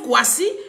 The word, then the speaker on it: Kwasi: Ça se prononce Kwasi, mais c'est pas écrit de la même façon comme le Kwasi.